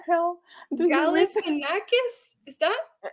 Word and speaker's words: Galifianakis: I'm gonna mispronounce it again. No, Zach Galifianakis.